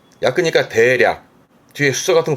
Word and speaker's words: 約: 혼자는 발음은 야크니까 대략 뒤에 수서 같은 거 붙여가지고 대략 몇 시간이라든가 그 대략의 약도 이 야크를 쓰게 됩니다.